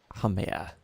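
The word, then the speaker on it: Pangaea: Pangea. That's how you pronounce it, okay.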